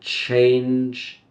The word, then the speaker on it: change: forget the G okay J change change change a soft G sound similar to the J in job J J job a soft G gives us that J sound change maybe you can